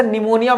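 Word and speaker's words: pneumonia: आता है पिरो अच्छा निमोनिया में भी कुछ लोगों को समझ में नहीं आता सर ये पी कैसे आया है एन आना चाहिए तो निमोनिया की स्पेलिंग जो है ना पी से स्टार्ट होती है वो इंग्लिश के प्रॉब्लम है और यहां पर सम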